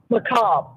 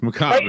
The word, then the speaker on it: macabre: Macabre. Yes, macabre. Like, when you read the word macabre, it doesn't look anything like the way it sounds.